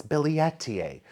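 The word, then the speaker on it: billietiae: It's bil billetier. I got used to the pronunciation that a lot of people do which is billeti but it's billetier.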